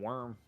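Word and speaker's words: Wyrm: one of the Sentinels I just call him worm that's true true it is worm I said why wum is not how you say it all right eight more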